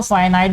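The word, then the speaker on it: finite: A decimal which has only a फिनिट भी पढ़ते हैं, इसको फाइनाइट भी पढ़ते हैं। अपना प्रोनाउंसिएशन का जो हर टीचर का अलग अलग स्टाइल है। जिन टीचर से मैंने पढ़ा है उनमें से कुछ ने फाइनाइट पढ़ाया, कुछ ने फिनिट पढ़ाया।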